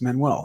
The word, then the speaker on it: Manuel: name for and my last name is portuguese manuel so well uh